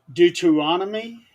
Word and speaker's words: Deuteronomy: there is a passage in the Bible in Deuteronomy okay is that is that the correct pronunciation yep deuteron okay um I'm I'm trying